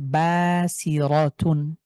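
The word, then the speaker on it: بصيرة: এই রটাকে যে উচ্চারণ করছি আমি, আশা করি আপনারা সাউন্ডে স্পষ্ট শুনতে পাচ্ছেন। এটাকে যদি আমি মোটা না করি তাহলে কেমন শোনাবে? বাসিরা, বাসিরা, বাংলার যে র। কিন্তু এটাকে মোটা করলেই হয়ে যাচ্ছে বাসিরা, র।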